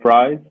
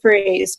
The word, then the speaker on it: Fries: Fries? Yes, it's actually Freeze, but it's a common mistake.